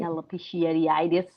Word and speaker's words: alopecia: i don't know if i'm saying it right alopecia yeah it's such a i i say it